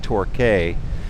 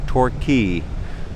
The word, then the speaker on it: Torquay: people that I know, if you were looking at the spelling of the word, it's Torquay. Most people that I know would want to say Torquay. But it's actually QUA and it's pronounced Key, so it's Torquay, Australia.